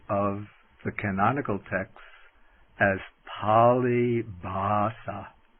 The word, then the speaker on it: pāli bhāsā: the canonical texts as pali basa i write that down it's p long a l i b h long a s long a palibasa which means the language